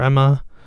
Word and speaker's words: Ema: It's spelled E MA. So once you get enough faith and like one EMA, which is Ema or Emma, you can upgrade your